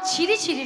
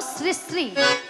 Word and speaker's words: শ্রী শ্রী: আরে মাসি ওনার নাম ছিরি ছিরি নয়, হ্যাঁ। বলো শ্রী শ্রী।